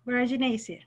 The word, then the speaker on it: Boraginaceae: Boraginaceae.